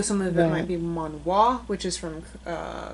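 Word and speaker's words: 만화: it's manga, but pronounced manhwa.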